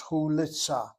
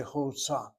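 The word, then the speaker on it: חולצה: If this word is indeed spelled with a long shuruk, then the word should be pronounced as hulitza, hulitza, hulitza. A long vowel does not have to be closed, which is what you're saying when you say chutza.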